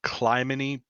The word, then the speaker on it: Clymene: I will say the pronunciation I'm using, I literally just Googled the Greek pronunciation because it's just a Greek name. Okay. I think it's Clemeni.